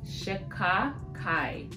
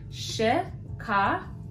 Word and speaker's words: Shikakai: It's organic Shikakai powder. So you see how you have the I at the end? Shikakai. It just flows, you know, Shikakai. So that's how you say it.